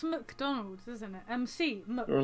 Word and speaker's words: McDonald's: McDonald's.